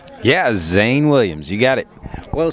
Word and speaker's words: Zane Williams: show we have Shane Williams saying how I pronounced your name right yeah Zane Williams you got it well saying you have a